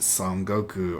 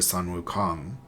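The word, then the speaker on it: Sun Wukong: If you don't get Kaji, you can get Son Goku or Son Wukong. Depending on how you pronounce it, if you pronounce it the Chinese way or the Japanese way.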